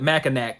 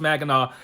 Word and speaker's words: Mackinac: up north called mackinac and he called it mackinac because that's how it's spelled but if you're from here you know it's pronounced magana and uh he called it mackinac and i was like and i thought it